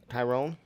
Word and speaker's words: Tyron: So Tyron Smith, kind of if like Byron Leftwich, that's how you say it.